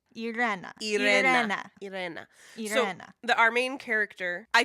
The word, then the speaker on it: Irena: and other social medias explaining how they pronounce their names. Right. We're like Irena with a hard R, whatever that means. Irena.